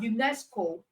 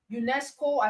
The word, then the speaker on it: UNESCO: But in the case of acronym, you are pronouncing as a word, not as individual letters.